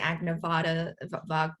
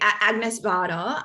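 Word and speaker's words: Agnès Varda: um i really like add nevada sorry i'm mispronouncing her name let me just repeat agnes bada um so she she's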